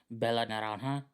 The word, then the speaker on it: Bella naranja: Not only was she Star Baker, but she fucking nailed the pronunciation of Bella Naranja.